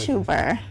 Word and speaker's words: Tubar: Tubar. You like the emphasis on the R?